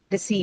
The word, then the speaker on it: deceive: It is a long E only, right? Deceive.